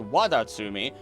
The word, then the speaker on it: Wadatsumi: Also being pronounced Wadatsumi, a legendary kami or god, Japanese dragon, and tutelary water deity in Japanese mythology.